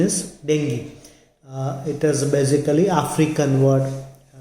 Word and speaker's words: dengue: we start with dengue many people call it dengue also but the correct pronunciation is dengue it is basically african word derived from the